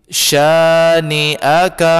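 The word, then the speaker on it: شانئك: berbaris atas bacanya Syaikh setelahnya ada Alif maka dipanjangkan dua harkat bunyinya adalah seperti ini syaniaka Hai itu ukuran panjangnya syaniaka Hai kemudian berikutnya adalah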